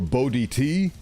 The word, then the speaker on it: Bo Di T: I try to make it so it's dissectable by syllables, so you can do Bo, or Bodhi, or Bodhi-T. But oftentimes I hear people call me Bodit.